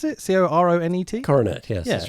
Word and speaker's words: Coronet: Is that how you pronounce it? Coronet? Coronet, yes, that's right.